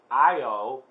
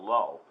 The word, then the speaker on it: Io: called good luck it's pronounced according to this io even though it's spelled L oh I call it low but it says IO has many active volcanoes